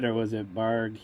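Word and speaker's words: Bargue: Did you spell that right, or was it Barg? Yeah, Barg, not Barger.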